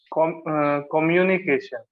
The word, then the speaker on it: communication: So the thing is, what you are doing is when you are saying communication, if you pronounce Hmm. the word as come, like communication, you are saying Mm-hmm. communication. Okay. So you have to say the COMM as come. So communication. Can you try that?